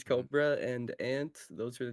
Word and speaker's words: Corbra: It's spelled Corbra, but his name's Cobra and Ant.